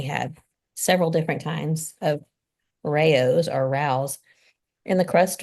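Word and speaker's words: Rao's: I actually looked up how to say it and I got two different responses. One of them said it's Rayo's and then one of them said Rouse, but it's RAO apostrophe S.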